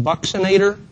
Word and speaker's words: buccinator: This is a muscle called the buccinator. I've also heard it pronounced buccinator.